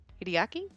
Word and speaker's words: Hideaki: Hideki? Wait. Hideaki? Hideaki? You'd have to pronounce the A.